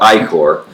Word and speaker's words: Ichor: their fifth anniversary lease it's called I Corps now if you read the bottle it looks like so sticker it's just not how it's pronounced but anyway so this